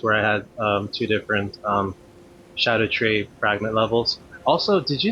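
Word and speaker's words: Scadutree: Um, and that was between two different videos where I had two different Shadow Tree fragment levels. Also, did you know that it's not pronounced Scadu Tree, it's Shadow Tree?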